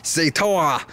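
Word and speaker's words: Zetor: Evidently, the way you pronounce their brand name, like in German or whatever, because they're a Czech company, in German it's Zetoa, if I remember right, something along those lines, which is good.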